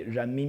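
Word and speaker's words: 人: It's RMBB and the R there actually stands for Jean or it comes from Jean. The RMBB actually the full word in Chinese would be Jean Bi and that would be the people's money.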